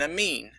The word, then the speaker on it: amine: People confuse amine and amide. I know it sounds kind of alike. It's spelled very much similarly, but D is not N is not D. It's an amine, not an amide.